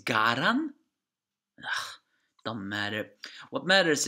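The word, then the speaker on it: Galand: Well, here it appears Galan is Garan, not Galan.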